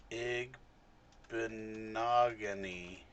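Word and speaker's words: Igbinoghene: getting them from the Bears right no uh egg benogony did I say his name right yes big monogamy I said it a lot slower than you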